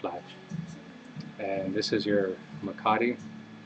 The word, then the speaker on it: mecate: And this is your mecate. It's a twisted horsehair rope. A lot of people up here, they call this a McCarty instead of a mecate.